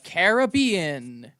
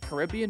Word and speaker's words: Caribbean: continent up is the Caribbean if that sounded unnatural it's because I've been pronouncing it Caribbean my entire life and this was a